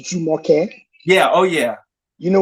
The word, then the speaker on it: Jumoke: It's pronounced Jumoke.